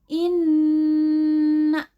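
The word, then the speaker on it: إنّ: bersumber dari rongga hidung Jadi dibacanya in enam Inna dan kalau yang meme-meme ma Bima Nah bacaan ghunnah dibaca dengan mendengung di rongga hidung cara membacanya didengungkan di hidung ditahan dua harokat harokat kedua adalah vokal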